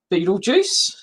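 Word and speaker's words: Betelgeuse: giant uh sometimes um the the proper pronunciation is thought to be better girls um but we often just use beetlejuice because that's what most people associate it with and yeah by the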